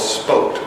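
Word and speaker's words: Spokt: The best third-party migration option that I have come across thus far is a hosting company called Spoked, spelled S-P-O-K-T, and pronounced like spoke on a hub, because their websites are actually referred to as hubs.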